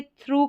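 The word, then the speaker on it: through: है और इसको देखिए थ्रू करके पढ़ेंगे टी एच आर को त्र और ओ यू जी एच को उ ये वाला साउंड निकल कर आएगा तो ओ यू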